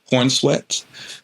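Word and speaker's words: Corenswet: I actually still think David Cornswet, is that how you say his name? Cornswet.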